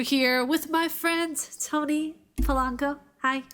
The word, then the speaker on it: Polanco: you by the way thank you for um pronouncing my last name right people seem to get a like a problem with it like lanco I'm like what the